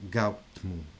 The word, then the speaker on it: Gautama: La storia del romanzo è simile a quella che si sa di Siddhartha Gautama, pronunciato Gautmu.